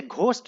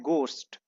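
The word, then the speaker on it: ghost: generally देखा जाए तो जीएस से हिंदी में घ होता है इसे घोस्ट नहीं पढ़ना है इसे पढ़ना है घोस्ट दोस्तों यहां पर आप एज को साइलेंट मान सकते हैं देयर आर मेनी पीपल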